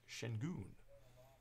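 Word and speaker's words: Şengün: the first times I did he said it's pronounced Shin goon so I stuck with that correct me if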